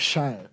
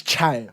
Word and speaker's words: Chai: They keep pronouncing my name like Shai when it's Chai.